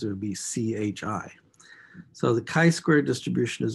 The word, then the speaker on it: chi: That's pronounced chi, as it's almost like K-A-I, squared, or square. It's written with a Greek lowercase letter called chi.